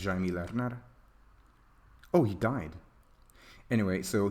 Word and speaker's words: Jaime Lerner: It's something that how is this pronounced? Jaime Lerner, the guy who did this Earth. I think it's Jaime Lerner.